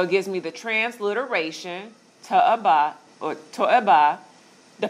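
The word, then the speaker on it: תועבה: So it gives me the transliteration, to-eba, or to-eba. The pronunciation, they break it down. So if you didn't have this, this is how you would say it. To-e-ba.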